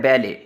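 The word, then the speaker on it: ballet: तो कुछ ऐसे अल्फाज होते हैं जो दूसरी लैंग्वेज से लिए गए हैं इंग्लिश के अंदर, तो उनके अंदर लास्ट टी साइलेंट होता है।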